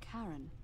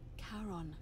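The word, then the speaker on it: Charon: figure with a coin described it only your pronunciation is a little off the name you heard wasn't Karen no it was c h o n as in Caron that was great Berryman who in exchange for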